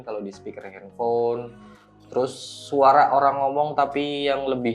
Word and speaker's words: Svara: dia ada rexus daksaara tulisannya SV a r a jadi bacanya sebenarnya bacanya suara gitu aja sih kalau